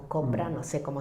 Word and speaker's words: Chopra: Como dice Chopra, o Copra, no sé cómo Chopra, se pronuncia, sí.